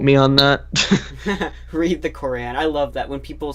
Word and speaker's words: Quran: just read the Quran no it's the qur'an the Quran I don't know it's not like this is amazing Quran like good character and something no it's I mean it's spelled Quran or Quran it has an apostrophe yeah you know well